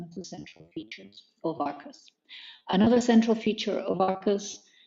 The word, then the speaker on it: ARQUS: It's actually ARQUS comes from the Latin Arcus with a C, or Arcus, Q-U-U-S, meaning arch, bridge.